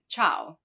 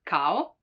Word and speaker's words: ciao: or china china now the letter i can also be followed by some other vowels in that case it's not pronounced like in ciao ciao hi ciao you